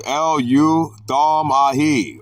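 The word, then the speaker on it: ἐλεύθομαι: Middle voice, eleuthomai. Pronounced eleuthomai, or active, eltho.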